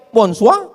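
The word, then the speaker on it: bonsoir: Bacanya bonjou. Bon soir, bonsa.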